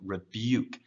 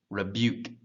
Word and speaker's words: rebuke: of it rather so rebuke you rebuke it's not book like reboot but there's almost like a y in there um that's pronounced but